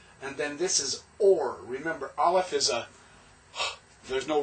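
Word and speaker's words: אור: Shame is name, or Shem is name. And then this is or. Remember, Aleph is there's no real pronunciation, so it's just the Holam, Vav, and the R.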